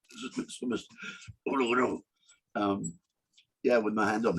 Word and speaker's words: Uluru: I spent the rest of the day walking around Uluru, and that's how they pronounce it. Uluru. Uluru.